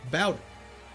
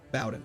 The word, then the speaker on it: Bowden: I was brought up, the name pronounced as bow, as in take a bow, and not bow, as in bow and arrow. Oh, Bowden.